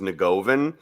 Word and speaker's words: Negovan: It's pronounced, the Americanized version is Negovan, but I had a teacher in Negovan.